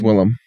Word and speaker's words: Willem: It's Willem.